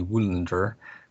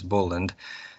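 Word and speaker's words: Völundr: Old English it's Weyland, in Old Norse it would be Wulandr, or sometimes the later pronunciations Voland.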